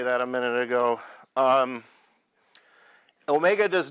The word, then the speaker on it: omega: the Greek letter Omega this is not a w it's kind of a rounded W and that is pronounced Omega and I want you